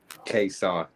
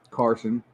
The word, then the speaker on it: Kayson: How do you say your name? Kayson. And what have I been calling you this whole time? Carson. You've been calling me Carson?